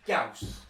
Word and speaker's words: Gauss: Grab your gas rifles. Get what? It's pronounced Gauss.